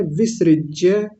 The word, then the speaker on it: विसृज्य: उपाविषत और आगे है विसिज्य विसरिज्य लंबा नहीं खींचेंगे इस मात्रा को वी बोलेंगे विसृज्य सशरम चापम शोक संविघ्न